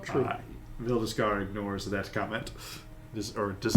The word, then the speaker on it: Veldeskar: Valdis. Veldeskar. If you were to spell it, VELDY.